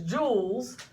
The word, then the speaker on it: joule: The work unit is joules. The force unit is newtons, and the distance unit is meters. Joules sounds like a diamond, but you notice it's spelt differently.